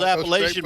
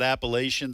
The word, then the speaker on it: Appalachia: Well, you know how those Appalachian boys are.